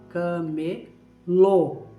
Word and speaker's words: camelô: E nós chamamos essas várias lojas de camelô. Camelô. Olha o som forte que dá no final. Camelô. Por causa do acento circunflexo, por causa do chapeuzinho.